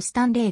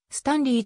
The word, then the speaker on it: Stanley: 所属ポジションは fw 名前のスタンリーはオランダ語発音だとスタンレーがが彼の場合はスタンリーと発音するほうが正しい 2009 年にアド